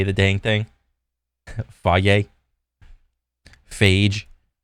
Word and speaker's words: Fage: Fage beyond the gym.